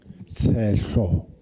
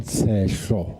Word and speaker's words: Sehlo: Councillor Teselo from the ANC. Hope it's properly pronounced. Speaker, Sehlo. Thank you, Councillor. I'll Say it again, Sehlo.